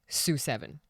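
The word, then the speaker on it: SU7: Sue 7.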